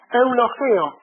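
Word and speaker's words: εὐλογέω: e o de nuevo la di despés la pronunci e u l o g e o e logeo qui decir la palabra griega literalmente O sea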